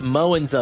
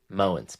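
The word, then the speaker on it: Mowins: That's Beth Mowens on the call, one of the great underrated play-by-play announcers, Syracuse University grad.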